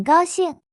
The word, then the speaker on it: 高兴: 高兴是 very happy 的意思，注意高高是第一声，平调，兴是第四声，降调。